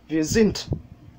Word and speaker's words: sind: Mais c'est pas encore ça, wir sind, et ça se termine avec un D et pas un T. Il y a un dévoisement lors de la prononciation du D en fin de mot.